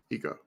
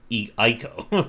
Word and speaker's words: Eco: Did you say Eco? Eco. How do you spell that? ECO. ECO. I thought it was Ico, like the other one.